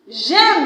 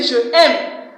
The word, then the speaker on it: j'aime: J'aime, I didn't say je aime. Because when we resume and I ask you to conjugate the verb to love or to like for me, I don't want someone to tell me je aime. I didn't put je here. This is je. This is different from this. So it's j'aime because this is I told you.